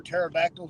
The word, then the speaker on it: pterodactyl: why you can't hear pterodactyl go to the bathroom cuz the p is silent I guess it is